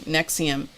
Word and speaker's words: NXIVM: the broadcast or the podcast is called escaping nexium and nexium is spelled nxivm really an interesting interesting